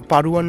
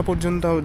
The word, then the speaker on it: Padhuan: তো আমাদের গন্তব্য হলো গিয়ে পারুয়ান বলে একটি গ্রাম, ইংলিশে পাধুয়ান লেখে। তো এক্স্যাক্ট প্রোনাউন্সিয়েশনটা আমি এখন মনে করতে পারছি না, পাধুয়ান বা পারুয়ান এরকম কিছু হবে, কারণ এইখানকার ডিটা আর এর মতো উচ্চারণ হবে।